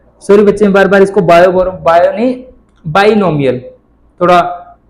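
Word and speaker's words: binomial: बच्चे बार बार इसको बाइनोमियल, थोड़ा वो बायो माइंड में था तो बार बार बायो था, बायो नहीं बाइनोमियल।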